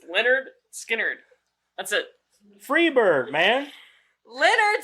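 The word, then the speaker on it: Lynyrd Skynyrd: Christ lyard skard lyard skard what I know it's spelled weird but it's Leonard skinnard that's it Freebird man Leonard skard even one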